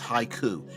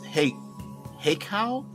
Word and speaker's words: Hekau: I always want to pronounce this haiku, and it's not haiku, it's heikau, Hekau spells, and my mind keeps going to haiku, and it's not a haiku.